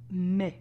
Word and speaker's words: mais: But in French is mais. Actually pronounced exactly like the month of May.